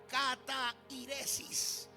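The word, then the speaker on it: καθαίρεσις: Destrucción es la palabra griega que se pronuncia catairesis.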